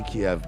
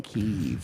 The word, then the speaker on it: Kiev: It's always going to be Kiev, by the way. I know that's the Russian pronunciation.